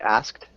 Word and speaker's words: asked: It often sounds more like he asked. So instead of having that K sound, it almost sounds just like asked. T sound at the end? Yeah, just a T sound instead of the KT sound.